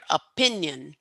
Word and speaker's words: opinion: go back really quick it's number two here opinion okay that is the correct one yeah and I know